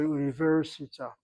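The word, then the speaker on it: אוניברסיטה: And the word università, each one of the syllables is properly broken. U is a long vowel, open syllable. Ni is a long vowel, open syllable. Ver is a short syllable, closed by the resh, assuming it's a svanach underneath the resh.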